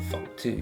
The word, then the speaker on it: FUCT: fucked, 그리고 fucked 이제 발음이 똑같기 때문에 저는 사실 요게 fucked 이름의 유래가 아닌가 싶기도 한데 제가 생각했을 땐 딱 그래요.